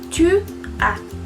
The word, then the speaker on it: tu as: Après, on a tu as. Tú tienes. Acuérdense que no se pronuncia la S del final. Tu as. Como si fuera una A nada más.